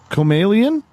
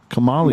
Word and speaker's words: Kamali: Let's move on to the Comalian. Did I get that right? Comalian? Kamalian. Well, it's actually Kamali.